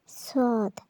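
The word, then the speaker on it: صاد: সদ সদ উচ্চারণ হলো জিহ্বার আগা সামনের নিচের দুই দাঁতের আগার সাথে লাগিয়ে আমরা সদ উচ্চারণ করব। এর আগে আমরা যেভাবে সা এবং সিন উচ্চারণ করেছিলাম জিহ্বার আগা সামনের নিচের দুই দাঁতের আগা থেকে, সদ সদ কিন্তু মোটা হবে, সিনের মতো পাতলা না। তবে সদের উচ্চারণ মোটা করে পড়তে হবে।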